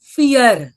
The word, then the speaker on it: vier: तुम्ही बघू शकता की आपण फिअरचं स्पेलिंग तर लिहिलंय VIER, पण आपण म्हणतोय फिअर. असं का? तर जरी इंग्रजी सारखेच लेटर्स असतील, मुळाक्षर असतील, तरी त्याचा जो उच्चार आहे, प्रोनाऊन्सिएशन आहे, थोडंसं वेगळं असतं.